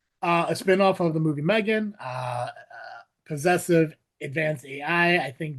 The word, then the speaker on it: M3GAN: model numbering used for Megan, which has the 3. No, it's not Becca, but Megan. Megan.